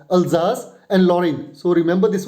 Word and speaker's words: Alsace: So, this is a French word and it is pronounced as Alsace and Lorraine.